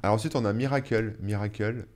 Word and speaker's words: Mirakl: Miracle, ça s'écrit Mirakl. Je pense que je le prononce bien, hein.